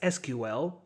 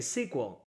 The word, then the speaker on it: SQL: people pronounce it as SQL while others say sequel nowadays it's a matter of preference moreover in the USA for example you are more likely to hear sequel while European countries you